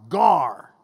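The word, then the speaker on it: γάρ: Not the fish, but it's spelled the same way. It's gamma, alpha, rho, G-A-R, gar.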